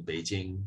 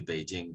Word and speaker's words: Beijing: that's a little bit similar to Peking becoming Beijing. So Peking is a representation of the name of that city in Cantonese, Baking, which got spelt as Peking in English. And then that was revised to Beijing to reflect the pronunciation of the standardized form